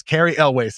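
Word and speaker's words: Cary Elwes: to go and confirm it's Carrie elways is how you say that Carrie always okay yeah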